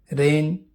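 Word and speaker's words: reign: जी, जब जी के बाद एन आता है तो जी कभी कभी साइलेंट होता है। साइन निशान या दस्तखत, रेन शासनकाल को बोलते हैं।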